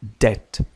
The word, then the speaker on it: debt: لاحظ بأننا لا ننطق ب، نقول debt.